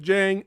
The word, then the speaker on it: Djang: the asylum that's right the d is silent yes you have no idea how much django help you know tarantino's film helped me once that film came out you know where you know jamie foster in the d silent right right right right